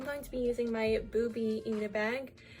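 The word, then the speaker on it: Bubi: So for the bag, I'm going to be using my Booby Eat-a-bag. It's spelled B-U-B-I, not B-O-B-Y.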